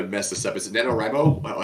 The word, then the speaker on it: NaNoWriMo: Is it NaNoWriMo? How do you say that for the November? Is that what it is? Yeah, NaNoWriMo.